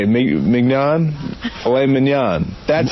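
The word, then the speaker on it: filet mignon: the world, or how about tenderly aged filet mcnan dick. You're an You don't say. How do you say it? Man filet minan.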